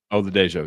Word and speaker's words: Oladejo: But hey, can you pronounce the UCLA guy for me? Oda. Yeah, I think it's Oladejo. Oladejo, yes, that's right.